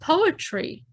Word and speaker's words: poetry: How many syllables are in the word poetry? Poetry. 3 syllables.